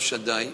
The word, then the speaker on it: Shaddai: But if he wrote from the word of Hashem, the name of Hashem, Shin Dalet Yud, we pronounce Shaddai, if he wrote only the Shin and the